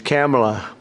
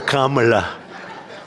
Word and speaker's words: Kamala: that we have, but fortunately it's pronounced different. It's Kamala. As opposed to Kamala.